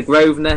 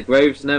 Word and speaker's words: Grosvenor: It's a silent S. It's the Grosvenor. He calls it the Grosvenor, which is hilarious.